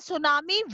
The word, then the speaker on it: tsunami: These are the tsunami waves. So T is silent.